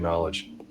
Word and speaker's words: knowledge: Why don't we pronounce the K in knowledge?